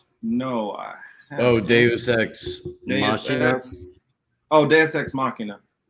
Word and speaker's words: Deus Ex: Pronounce I know in my head I wanted to say Deuce, but you know, depending on which languages, everything gets all mixed around.